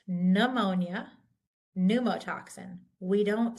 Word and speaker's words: pneumonia: so this is pronounced pneumonia pneumotox we don't say pnea I couldn't even do that um we this the p is silent in the beginning of the party we're